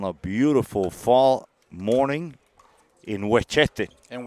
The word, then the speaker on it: Westchester: beautiful fall morning in wete in W this is wet you have to say it like that it's not Westchester W home of the best